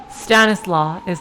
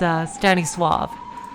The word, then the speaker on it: Stanisław: And the Polish name, I believe, Stanislaw, that's not how it's spelled. Pronounced. It's Stanisław. So that's how to say that.